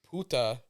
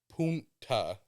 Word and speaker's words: punta: Puta is bitch. Punta is point. Where you gotta pronounce the N. If you don't pronounce the N, you're saying bitch in Spanish.